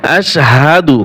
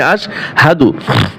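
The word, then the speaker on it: أشهد: ভুল করে পরে আশহাদু পড়ে সাধু সাধু নয় আশহাদু হাবর হাফ পেশ দুই উচ্চারণ কি হবে আশহাদু আশহাদু আল্লা ইলাহা এই লা এখানে তিন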